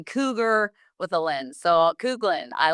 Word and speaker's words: Kuglin: My guest today is Matt Couglin. Oh, I said it right. Right. I said it's like you told me cougar with a lens. So, Couglin, I like that.